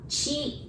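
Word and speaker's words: ち: And again, we have to be careful with the second one because we would want to pronounce it like T. And then again, we don't have that sound. So we pronounce it like C-H-I, chi, ta, chi, tsu, te, to.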